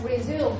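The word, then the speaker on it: résumé: work after rest resume when it is used as a verb it shall be pronounced as resume right means go on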